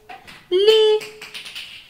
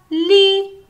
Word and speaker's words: lit: sait c'est un lit lee j'entends une syllabe lee 1 à la fin il y à la lettre t es ce que tu